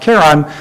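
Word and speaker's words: Charon: a kai and his pronounced with a hard K so every Greek scholar and not that I'm one of those uh would say is pronounced Caron however James Christie who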